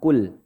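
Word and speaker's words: قُلْ: Jadi tidak ada pantulan e atau e. Kul, enggak ada kul, enggak ada, Pak. Jadi catatan pertama itu lam jangan sampai ada pantulan.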